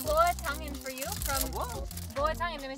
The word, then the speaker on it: buah tangan: Boa tangan, let me say it right. Boa tangan, betul.